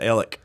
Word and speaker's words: Alex: town right beside us it's spelled alex they pronounced it ellick and my miami oklahoma